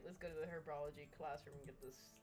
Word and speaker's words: herbology: classroom and get this herbology herbology did you see herbology it is herbology is it not herbology no it's herbology cuz it's herbs it's herbs it's herbs herbology it's herbs the H is silent and herbs don't be